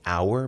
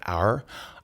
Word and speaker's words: hour: Pode ser hour, pode ser are, are. E quase sempre o que dita isso é a velocidade que se fala.